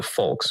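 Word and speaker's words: Volk: an integral part of the vulks identity. The text sorry the folks I believe that's how you pronounce the V.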